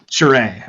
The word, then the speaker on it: Sheree: So I've got Cherie. Is that how you pronounce it? Next. It's actually Sheree. Sheree. All right. Yes. My name is Sheree.